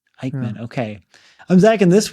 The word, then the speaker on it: Aickman: Robert Aickman? Aickman, okay.